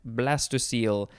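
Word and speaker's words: blastocoel: blighting influence next is blastocyl b-l-a-s-t-o-c-o-e-l or you could add another e at the very end blastocyle it is not pronounced how you would think it would be based on how it is spelled this is a noun from 1875.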